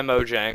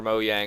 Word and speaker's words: Mojang: However, this is an official texture pack released by Mojang or Mojang or however you want to pronounce it.